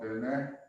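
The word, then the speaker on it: Diné: The Navajo, they prefer to be called Dene with the accent on the E, and they're a clan nation.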